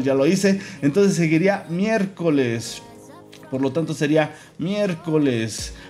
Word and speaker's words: miércoles: Entonces seguiría miércoles. Por lo tanto sería miércoles. Miércoles. Miércoles lleva acento en la E, si no me equivoco.